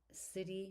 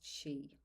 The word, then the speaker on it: sidhe: Over millennia, the fears of these mounds, uh sidhe, she she, pronounced she, that's s i d h e, pronounced Sidhe.